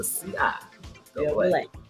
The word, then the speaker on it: CIAA: And the name of the conference is pronounced CIAA. Thank you, because baby, it was the CIA for me.